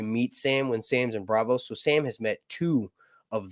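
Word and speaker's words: Braavos: in Bravos trying to or Bravos is how you say it technically uh she's down there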